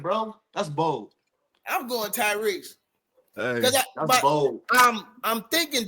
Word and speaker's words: Tyrese: Tyrese.